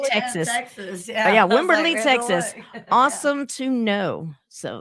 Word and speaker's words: Wimberley: in winning winning how do you say that Wimberley Texas Texas yeah Wimberley Texas awesome to know so that's awesome right